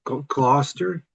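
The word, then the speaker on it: Gloucester: It's like uh Worster sauce cluster.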